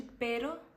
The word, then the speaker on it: pero: a gente saiu de pero para perro então é muito importante você saber diferenciar que quando tem apenas uma R você vai falar Pero mas se tem duas você vai falar perro isso vai servir para